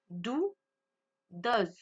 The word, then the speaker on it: does: Dou does. Vous voyez, la prononciation n'est pas la même.